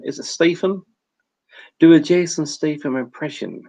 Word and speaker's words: Statham: Sometimes I pronounce it Stratham for some reason.